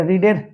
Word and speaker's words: read: book were being এবারে রিডের verb three রিড রেড রেড তোমরা জানো spelling is দা same but দ্যা pronunciation is different আমার স্পেলিংটা একই থাকে উচ্চারণটা আলাদা রিড রেড রেড তাহলে কি হবে দিস